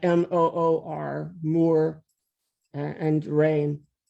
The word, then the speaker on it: Muir: But again, he was Scots Irish, and MOOR is the correct pronunciation of his name.